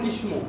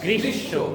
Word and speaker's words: গ্রীষ্ম: ওই বর্ণটা অনেকেই দেখবেন বলে গ্রীষ্ম, কি বলে? গ্রীষ্ম। কিন্তু আসলে এটা কি হবে? গ্রীষ্ম।